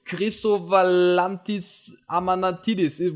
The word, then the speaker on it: Chrisowalantis Amanatidis: I'm Luca from PTCGA Austria, and today we have another interview with national champions, this time with Chrisowalantis Amanatidis.